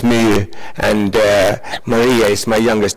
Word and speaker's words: My: And for those who doesn't know, MySQL comes from my daughter Mai, actually pronounced Mi, and Maria is my youngest daughter, so it was appreciated.